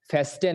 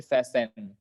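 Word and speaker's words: fasten: এখানে মাঝখানে টিটা সাইলেন্ট, ঠিক আছে।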